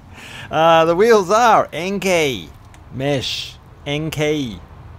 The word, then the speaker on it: Enkei: Enkei is how the Japanese pronounce it.